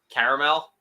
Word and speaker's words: caramel: and then she said there was no a after the r okay well there is it's just silent and if we're talking